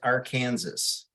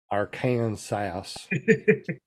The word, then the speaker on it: Arkansas: We got to get you to pronounce the state you live in right. I'm pretty sure it's Arkansas. Arkansas.